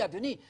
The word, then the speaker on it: Adonai: Adonai, Adonai, Adonai. You know Adonai, it rhymes with El Shaddai, El Shaddai, you know it.